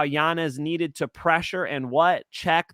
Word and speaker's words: Yanez: Yes, it's Yanez, Mike Finch. He's flipping it back to the traditional pronunciation. He's not letting the name be Americanized. So Yanez with a Y, but for us, it's, you know, Yanez in English.